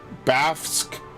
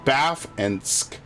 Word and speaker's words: Bafsk: Bafsk, right? Baf and Sk. Bafsk. Weird name.